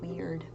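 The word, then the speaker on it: Wyrd: known as um h it's pronounced weird it's a rune of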